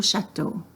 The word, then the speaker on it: château: Je vais au château. The X is silent.